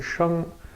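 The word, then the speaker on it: 生: So this is the character, we pronounce it sheng, and it can be translated as life, to grow, to give birth, to engender, and things like that.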